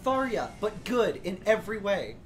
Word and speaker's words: Tharja: Yeah, like the Tharia, the Hex Maniac. Yeah. All of the ones that are, like, Yandere Goth GF. Yes, I do pronounce Tharia with a soft J.